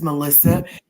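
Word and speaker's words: Malysa: My name is Melissa. M A L Y S A. If you flip it around and pronounce it again, it sounds like asylum.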